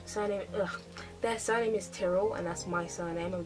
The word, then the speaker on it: Tyrell: and people always pronounce our name. Oh, they call him Tyrell. I can't remember how they say it, but we pronounce it Tyrell.